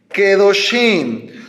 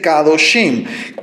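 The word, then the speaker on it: kedoshim: y agregamos el in quedo sin No es kadoship eso tú lo vas a encontrar en algunas Biblias restauradas pero es incorrecto no se dice kadoshim k2 se dice quedo sin quedo sin por la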